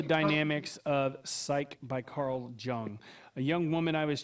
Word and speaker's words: Jung: Jung. Yep, that's how it's pronounced.